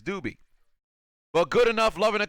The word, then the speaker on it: Dube: the upset Dube says pronounced do B oh well there it is it's do B well good enough loving